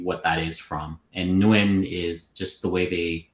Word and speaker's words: Nguyen: Nguyen. Nguyen. Yeah, like, the Wynn Casino.